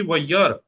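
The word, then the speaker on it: וַיַּרְא: उसके बाद श्वा है और अलिफ साइलेंट है। तो ये हो जाएगा जी वैयर, वैयर, वैयर, वयर।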